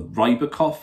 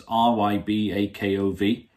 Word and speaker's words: Rybakov: ripper cough or the ribocoff antenna my bad on the pronunciation it's ryb akov and it's a 7.6